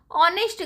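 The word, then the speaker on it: honest: He sorry she is blank ऑनेस्ट girl. ऑनेस्ट का हमने देखा था एच क्या है? एच साइलेंट है।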